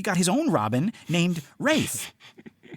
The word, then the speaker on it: Rafe: Yeah, it looks like Ralph, except in the play, it's actually how it should be. Rafe.